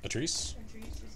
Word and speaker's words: Atrice: oh okay so arri my name is pronounced like Patrice without the P so atrice like that I want